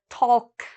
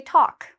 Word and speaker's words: talk: important word talk okay a lot of students want to say talk I talk to my friend we don't pronounce the L so we say talk another very important word